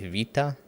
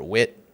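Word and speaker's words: Wiha: So this is actually from a company I think the German pronunciation is something like Vita and in the US a lot of people would say white or wit doesn't really matter.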